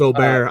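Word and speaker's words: Åberg: way did did you hear the proper way to say his last name on the broadcast it's like Oar it's Oar I was shocked it took me a hot minute to figure out who they were talking about I went oh my God it's a Berg sorry continue side yeah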